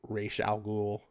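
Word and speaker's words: Ra's al Ghul: settle on the pronunciation i say it's razak ghoul some people say it's rachel ghoul whatever but you know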